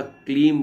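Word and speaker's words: क्लीं: कि बच्चा छोटा है उच्चारण अशुद्ध है तो एक दिन दर्शन दिए और बोला क्लीम बोलना है क्लीम अब तो सुदर्शन जाग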